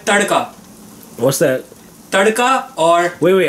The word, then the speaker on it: tadka: in India is called tadka. What's that? Tadka or... Wait, how do you say that? Tarka? Tarka. Tarka. Tad? Tar? No, no roll of the R's, my bad. No R.